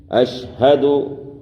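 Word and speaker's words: أشهد: اشہد یہاں پر ہونٹ کو گول کرنا ہے.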